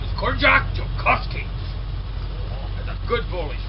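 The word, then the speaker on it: Ziolkowski: his name is kjac joski that's a good bullish name start with a z it's pronounced with a J no one can pronounce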